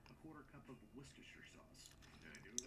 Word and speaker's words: Worcestershire: to say it correctly, a quarter cup of Worcestershire sauce. Did I do it right? Worcestershire? You mean Worcestershire?